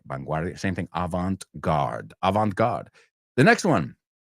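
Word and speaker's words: avant-garde: is Avant guard okay I'll tell you how we pronounce it not how the French pronounce it that you'll have to take a French class there so uh we say in English Avant guard I'll use it in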